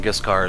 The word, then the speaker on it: Giscard: So if they're using the French pronunciation, Giscard is correct.